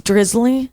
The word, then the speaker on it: Drizzly: me off but it starts with a d and it rhymes with grizzly and it's a liquor